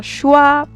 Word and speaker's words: choix: So we have X. Don't pronounce it at the end in noun, some plural, adjective, and some verbs. Example, we have un choix, une croix, un époux, délicieux, les choux, des joues, etc., etc.